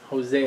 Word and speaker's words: Hosea: Hosea. Hosea. Yeah, like Jose but Hosea, right?